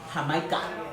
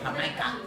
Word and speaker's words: jamaica: And these are my Jamaica. That's how they say it in Mexico, Jamaica, which is Jamaica tacos. They call hibiscus Jamaica or Jamaica in Latino countries or in particular Mexico.